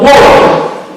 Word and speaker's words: Warham: Now, Warham is, as I'm told by members of its family, how we ought to pronounce it, no E, W-R-H-A-M, Warham.